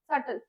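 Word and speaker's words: subtle: सटल का मतलब होता है इनडायरेक्ट, और बी साइलेंट होता है इसमें, सटल।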